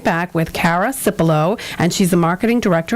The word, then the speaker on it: Cara Cipullo: your host nicole perry and my guest is cara cipolo i love your name i love that you're